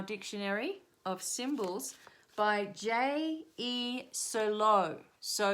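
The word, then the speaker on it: Cirlot: Sirlot. So you spell it C-I-R-L-O-T. Sirlot.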